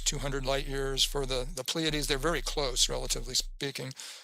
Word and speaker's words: Pleiades: Now I just realized I didn't pronounce that right. Pleiades.